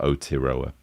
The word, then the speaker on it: Aotearoa: So when I'm going to try and include that Aotearoa.